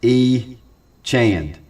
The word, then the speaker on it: Etienne: Pronounced E. Chand.